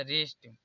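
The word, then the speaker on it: wrist: से पहले डब्लू आ इसलिए डब्लू यहां पर साइलेंट हो जाएगा इसे पढ़ा जाएगा रिस्ट अब डब्लू के बाद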